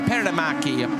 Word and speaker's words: Perämäki: Joker has gone Tinka Perämäki, sorry, I keep adding an extra K. Perämäki, apologies.